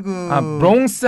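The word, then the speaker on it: Bronx: 네, 이 한국 발음으로는 이거 브롱크스라고 하는데 네. 역시 브롱스 아닙니까? 예, 브롱스입니다. 브롱스. 네. 이 크라는 발음이 거의 안 들리고요. 이 브롱스라고 발음을 하고요. 뉴욕시의 5개 자치구 중에서 이제 가장 북쪽에 있습니다.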